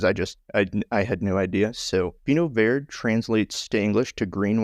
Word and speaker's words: Vinho Verde: of people pronounce this Vinho Verde, which would be correct if we were in Spain, but we were in Portugal, so this is pronounced Vinho Verde.